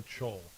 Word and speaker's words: Chol: Antonio Chol.